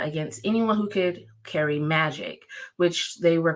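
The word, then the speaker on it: maji: was died for being Magi or Magie is that how you say it Magi yeah they say Magi oh I was right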